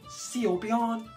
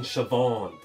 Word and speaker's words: Siobhan: as well you ready see on oh okay that's the most unir name ever it's as Irish as Simon cow buddy oh Christ can you just spell it please okay dummy s i o b h a n you mean shobon literally what I say